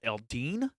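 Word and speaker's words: Eldeen: actually not goddesses they're of a race called Aldean blue that's how you pronounce it and we'll learn more about them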